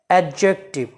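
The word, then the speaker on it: adjective: pronoun number three এডজেক্টিভ এডজেক্টিভ এইভাবে এই ওয়ার্ডটি উচ্চারণ করা যাবে না এডজেক্টিভ ডি এবং এই দুটো লেটারকে একসাথে উচ্চারণ করতে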